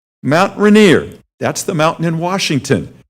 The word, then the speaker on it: Rainier: Mount R-A-I-N-I-E-R, Mount Rainier.